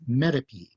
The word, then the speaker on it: metope: lower right you see the word me t o p which we pronounce metape and the red arrow